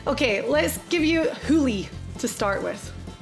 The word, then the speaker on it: hoolie: I'm trying to give you one that's like, okay, let's give you hoolie to start with. Hooey. Hoolie. Spell it.